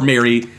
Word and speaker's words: Mary: I know plus one foot and fist is definitely more relevant for Marie, but or for Mary. The existence of Marie Lambeau makes me mispronounce this as Sister Marie every time.